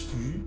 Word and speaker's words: 鱼: Their YU9 actually comes from the Chinese word 鱼. So fish is pronounced as 鱼 in Chinese.